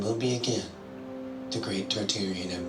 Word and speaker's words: Tartaria: be again the great tartarian Empire tartaria originally pronounced Taria without the first R is the name of